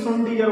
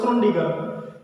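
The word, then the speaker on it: Schrödinger: दूसरा है Irwin श्रोडिंगर, कहीं कहीं इसको श्रोडिंगर भी प्रोनाउंसिएट करते हैं, तो दोनों एक ही चीज है, श्रोडिंगर और श्रोडिंगर।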